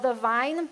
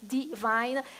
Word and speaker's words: The Vine: I planted is called the vine and I'm trying to make it say it correctly because every time I say it people think I'm saying Divine the vine the Vine Church